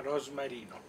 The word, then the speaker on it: rosmarino: Italia rosmarino.